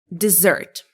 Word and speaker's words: dessert: Okay, which one do you pronounce like dessert? The first one or the second one?